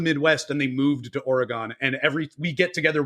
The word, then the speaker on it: Oregon: you prefer to pronounce Oregon oh perfect I nailed it how do you it's not Oregan not or right okay just checking got